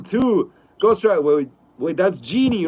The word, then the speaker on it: Jyn: Go says Jyn is known as Genie.